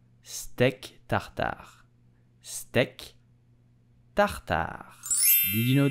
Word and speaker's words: steak tartare: So how do you pronounce it correctly in French? You will say steak tartare, steak tartare, steak tartare.